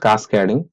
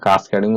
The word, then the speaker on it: Cascading: तो the full form of CSS कास्केडिंग। देखिए यहाँ पर प्रोनाउंसिएशन हमारा कास्केडिंग और कैस्केडिंग दोनों ही है।